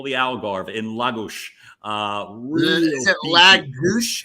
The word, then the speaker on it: Lagos: And from that point, I am now in what they call the Algarve in Lagos. Is it Lagos? How do you say it? Wait, right. So I was calling it Lagos, sounding right out of Northeast Philly for years.